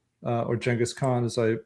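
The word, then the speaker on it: Genghis Khan: the Mongols but as opposed to like uh Chingis Han or Jenghis Khan as I pronounce it in the thing.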